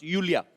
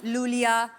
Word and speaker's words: Iulia: pronounce Yulia. Yulia. And the spellings are IULIA. LIA. So I Thank क्यों God मतलब? you know. I mean, why I? God. Everyone is calling me Lulia. Lolia.